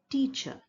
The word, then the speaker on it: teacher: The last vowel sound in the word teacher. T-cher. A. Remember, in teacher, we don't actually pronounce the R.